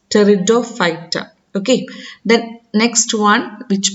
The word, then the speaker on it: Pteridophyta: P is silent there. We will pronounce it as pteridophyta.